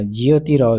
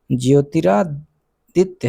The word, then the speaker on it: ज्योतिरादित्य: पहला नरेंद्र मोदी, दूसरा अमित शाह, तीसरा ज्योतिराव सिंधिया, चौथा राजनाथ सिंह। दोस्तों एक क्वेश्चन हम कुछ गलत प्रोनाउंसिएशन हो गया है। पहला नरेंद्र मोदी दूसरा अमित शाह तीसरा ज्योतिरादित्य है सिंधिया।